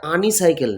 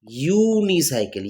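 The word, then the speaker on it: unicycle: উচ্চারণটা আনিসাইকেল না, কি আসছে? ইউনিসাইকেল।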